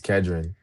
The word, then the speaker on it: Kedron: The way it's really supposed to be pronounced is Kedron.